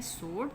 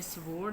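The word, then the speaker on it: sword: सोर्ड, तलवार को कहते हैं, इसमें डब्ल्यू साइलेंट है, तो आपने स्वोर्ड नहीं पढ़ना है, इसको सोर्ड पढ़ना है।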